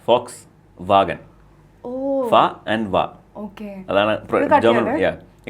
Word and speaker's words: Volkswagen: uh v o s Volkswagen Volkswagen volag Volkswagen yeah it's Fox vag oh and VA okay